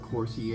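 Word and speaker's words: Cosori: So we're using a 5.8 quart Corsi air fryer. That's how you would pronounce it.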